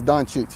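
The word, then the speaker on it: Dončić: first name Luka H so the proper way to say it is donich damn I was close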